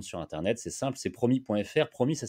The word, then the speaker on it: Promy: J'insiste, tous les promoteurs se préinscrivent sur la plateforme du Promis, mais ne deviennent pas adhérents.